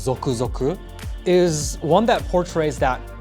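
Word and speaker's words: ぞくぞく: with this because the original anamia this is pronounced zoku zoku is one that portrays that tingly feeling you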